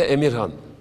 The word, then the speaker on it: Amir Khan: Tabii yani öncelikle Türkçesiyle Emirhan, İngilizce yazılışıyla Amir Khan diye telaffuz ediyorlar.